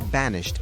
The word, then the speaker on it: banished: The word banished in the play Romeo and Juliet is pronounced banished.